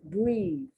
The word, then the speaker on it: breath: The EA is pronounced short and the TH is pronounced differently.